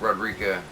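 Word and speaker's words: Roderika: you say her name they say it like Rod Rica it's spelled like rerica so I don't really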